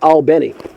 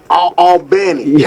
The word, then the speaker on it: Albany: for ALB and actually as I understand the natives that's a small town in Livingston Parish they pronounce it don't ask me why they ounc it Al Benny Al Benny okay hey that doesn't